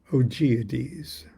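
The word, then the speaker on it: Augoeides: of Solomon the king oades is how I'm pronouncing it a u g o e i d e s Atma darana and we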